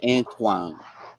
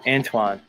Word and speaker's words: Antoine: guy Anton the student Anton who was a channel and uh he's a YouTuber yeah the whole conscious Community is like that it's pronounced Antoine Antoine that might be racism